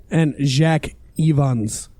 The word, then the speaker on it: Jack Evans: And Jack Evans. You were close there. It's not Jacques.